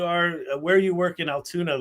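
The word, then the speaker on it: Altoona: Spelled with O's and not a U. Correct. Correct. Sounds like Toon Town. Yes. Toontown. Yes.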